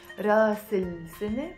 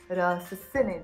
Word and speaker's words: رأس السنة: راس السنة pronounced as راس السنة, the head of the year which means new year.